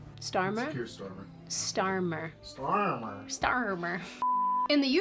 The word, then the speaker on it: Starmer: Starmer.